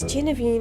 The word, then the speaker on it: Genevieve: Oh yeah, it's Genevieve and Guinevere. That's how it is pronounced.